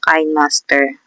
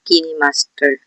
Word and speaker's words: KineMaster: YouTube thumbnail gamit ang KineMaster. So KineMaster po ang pronunciation ng iba. Yung iba naman po ay Kin Master.